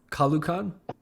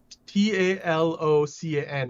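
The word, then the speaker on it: Talokan: Kalukan? Talocan. I think they pronounce so it's pronounced with like this a Spanish dialect.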